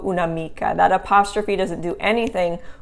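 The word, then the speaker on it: un'amica: after the un and it sounds the same when you say it unamico una mica that apostrophe doesn't do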